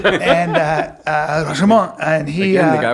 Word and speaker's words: Rashomon: Rashomon with Akira Kurosawa. I'm sorry, it's pronounced Akira Kurosawa and Rashomon.